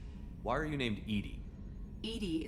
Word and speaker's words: EDI: are you named Edie Edie is the phonetic pronunciation of EDI it's an acronym for